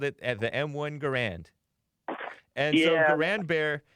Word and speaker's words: Garand: correct you real quick you pronounced that the m1 garand John garand was his name and it's properly pronounced garand oh really yep that